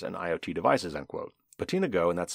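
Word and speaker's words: BotenaGo: millions of routers and iot devices end quote patina go and that's spelled b-o-t-e-n-a-g-o and the go part there by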